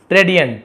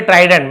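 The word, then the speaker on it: trident: शिवा गव हर द ट्रेडियंट ट्रेडियंट क्या होता है त्रिशूल को ट्रेडियंट कहा जाता है सॉरी ट्राइडेंट मैंने गलत उच्चारण कर दिया सॉरी ट्राइडेंट बोलते हैं क्या बोलते हैं ट्राइडेंट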